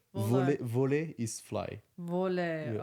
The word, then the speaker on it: voler: Oh, because if you say volaille, it means poultry. Oh. Yes. What is voler?